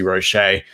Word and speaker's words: Roche: breaking news podcast because how can you say rochet and not have the accent over the e so therefore it smells like roche so i'm gonna not